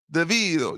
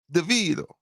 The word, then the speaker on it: DeVito: DeVito was the MVP deito you gotta say it like that Rob deito I want to hire